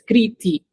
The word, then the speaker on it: Kriti: Okay, it's not Kri, it's not Ti. I have to combine two distinct sounds to make her name. Okay, so it's Kriti.